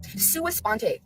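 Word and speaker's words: sua sponte: You know the gag order that they put suisponte. That's how you pronounce it. Suisponte.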